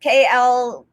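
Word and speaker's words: Klaviyo: So first of all, honestly, I don't know if it's pronounced Clavio or Clavio, because people say it differently, but it's Klayvio.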